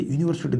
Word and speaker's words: university: बट यहाँ पर नहीं लगेगा, क्योंकि यहाँ पर जो हम उच्चारण को देखेंगे, भला ही यहाँ पर इंग्लिश का स्वर हो, परंतु हिंदी का क्या है? उच्चारण में व्यंजन हो।